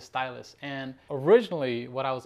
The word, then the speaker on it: Ztylus: kit mark 2 and stylus i believe that's how you say it it starts with a z but i believe the company name is stylus and originally what i